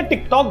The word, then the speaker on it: TikTok: और नाम सेम रहने वाला है टिकटॉक, स्पेलिंग थोड़ी सी अलग होगी, TICKTOCK, बोलने में टिकटॉक ही बोला जाएगा, नाम अलग है, पबजी आ गया, ये भी लग रहे हैं, आने दो।